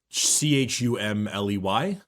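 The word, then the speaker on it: Cholmondeley: to be spelled um c-h-u-m-l-e-y well I would expect that too but no c-h-o-l-m-o-n-d-e-l-e-y is he British of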